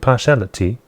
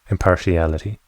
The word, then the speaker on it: impartiality: lost your Empire and partiality impartiality right you do pronounce the i in there right impartiality you think so